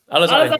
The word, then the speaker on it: Alizadeh: right now, let us know, because I'm like Alizadeh or Alizadeh. No, you got it. Alizadeh.